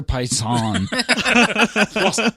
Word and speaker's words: Poison: It's Poison. pronounced Dr. Poisson. Poisson. Poisson.